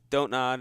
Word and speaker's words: Don't Nod: Oh, the developer of the game, Don't Nod Entertainment. I always pronounce that wrong, but anyways, How so do you pronounce Don't Nod? don't nod. It's literally DONT.